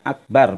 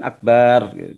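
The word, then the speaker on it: أكبر: kalau di semua qiraati tidak ada kata-kata Akbar itu dua ketukan karena Akbar itu termasuk Asma Asmaul Husna ya Kabir Akbar jadi bacanya Akbar bukan Akbar dipanjangin sudah artinya jadi tadi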